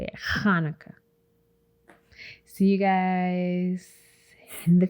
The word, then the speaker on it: Hanukkah: kwanzaa hanukkah that's how you say it hanukkah see you guys in the future all because